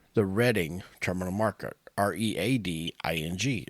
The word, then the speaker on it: Reading: But it is pronounced the Reading Terminal Market. Reading. It's pronounced Reading.